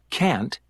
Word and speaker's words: can't: Can't and shouldn't. Part A. Listen and practice these statements. Notice how the T in can't and shouldn't is not strongly pronounced.